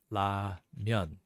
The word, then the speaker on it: 라면: But if you want the Korean ramyeon, that comes out to ramyeon. So it's just pronouncing it that way.